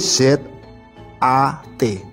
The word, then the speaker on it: zat: Kalau ditulis Itu di z a t bacanya zat Nah ini kan seperti